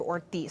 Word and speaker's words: Ortiz: two minutes to respond it's pronounced representative ortis Senator Kavanagh and we